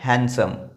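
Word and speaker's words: handsome: डी जो है यहां पर साइलेंट है। ये क्या है? हैंडसम।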